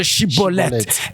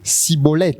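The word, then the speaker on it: Shibboleth: Il fallait que cet homme prononce Shiboleth.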